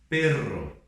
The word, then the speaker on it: perro: Pero e perro, ok? Então, quando nós temos dois R's no meio da palavra, nós chamamos de R fuerte e nós pronunciamos assim, perro, ok?